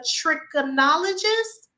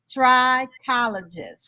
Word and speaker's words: trichologist: Gamble is a trichonologist. You close. Trichologist.